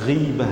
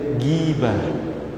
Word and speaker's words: ghibah: Nama ghibah gitu, ya. Ghibah. Jangan baca gibah, baca ghibah. Maaf ya, kita orang Melayu ni bila GH kita selalu sebut ga. Contohnya Gaza.